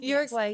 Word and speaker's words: Uruguay: So your family moved here when you were a young child, and please check my pronunciation on me. But from Uruguay. Uruguay? Uruguay, Yes.